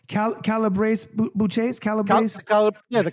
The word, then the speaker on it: Calabrese: Calabrese Bouches? Calabrese? The Calabrese.